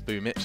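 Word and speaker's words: Boombl4: boom Mitch and Crim's that's boo Mitch that's apparently how you pronounce that from the kirill ik and I don't know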